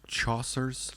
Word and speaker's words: Chaucer: Is it pronounced Chaucer's?